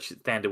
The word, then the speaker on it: Thandie: She goes Thandie Way. She used to go by Tandy, but Thandie Way now, I think, is how she prefers.